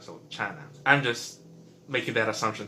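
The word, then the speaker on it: Tsana: By the way, Chana is spelled T-S-A-N-A, and I'm just using how usually the TS sound is pronounced in Filipino, which is a CH sound, so Chana.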